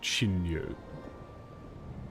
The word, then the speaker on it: 神竜: In Japanese it would be pronounced Shinryu.